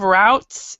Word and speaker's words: routes: Routes. And this is actually pronounced. It has two pronunciations. We have routes, and then we have routes.